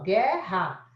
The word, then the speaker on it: guerra: Se você faz a transcrição, você não fala o U. Então, é só o G que representa. O RR fica um R só, você fica assim, ó, guerra, né? Fica assim, gera. Isso aqui é guerra na fonética.